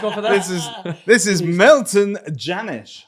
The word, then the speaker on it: Milton Jannusch: This is Milton Jannusch, right? I pronounced that correctly.